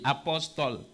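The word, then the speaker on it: Apostol: Apostle, like the title? It's spelled A-P-O-S-T-O-L. Apostle. Means same thing.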